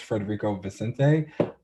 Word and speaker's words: Federico Vicentini: I will say that the artist Federico Vicentini, that's how you say his name.